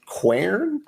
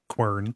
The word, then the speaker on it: Quern: One game that I just started today is a game called Quern, which I'll write out.